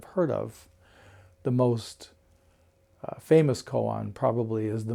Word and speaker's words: mu: no or nothing and in Japanese it's mu pronounced Mo so mu became the